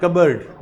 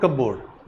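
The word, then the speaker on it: cupboard: O lady keeps close in pronunciation कबर्ड नॉट कबड इट्स कबर्ड प rim silent लिखना भी कबर्ड द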